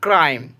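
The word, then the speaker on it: crime: কী করবো, ক করবো, সেই জন্য এখানে সির উচ্চারণ হচ্ছে ক। সি এল A double S, class, C আর আই এম ই, ক্রাইম।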